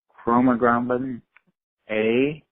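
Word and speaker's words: chromogranin A: Do you think that mast cells release chromoglobin A, and do you use that for diagnosing mast cell activation syndrome?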